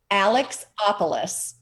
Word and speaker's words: Alexopulos: Tonight, we are having artist, I'm going to say it correctly, Alexopulos. It's a strong Greek name.